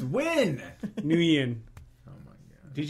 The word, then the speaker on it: Nguyen: Isn't that Nugent? It's win.